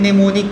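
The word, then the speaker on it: mnemonic: इसे क्या कहते हैं निमोनिक कहते हैं क्या कहते हैं निमोनिक कहते हैं अब निमोनिक का स्पेलिंग एम से शुरू होता है एम को साइलेंट करेंगे और नेमो निक पढ़ेंगे नेमो निक का मतलब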